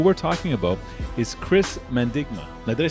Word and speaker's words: Mandigma: capital and who we're talking about is Chris mendigma now did I say that properly yeah yeah